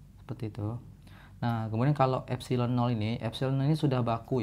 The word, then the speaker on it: epsilon: a a atau ya Ini bacanya adalah epsilon ya Hai nih berasal dari bahasa Yunani yang epsilon 000 sini